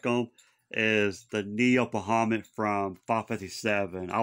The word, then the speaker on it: Bahamut: Some people pronounce it Bahamut, but I think it's Bahamut.